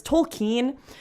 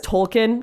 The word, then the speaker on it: Tolkien: It's Tolkien, but everyone says Tolkien. It's just easier.